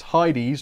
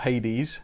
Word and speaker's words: Heides: My name is pronounced Heides, not Hades, so sorry about that, Heides.